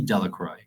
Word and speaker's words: Delacroix: harry jones and dicky delacroix the villagers pronounced this name de la croix eventually made a great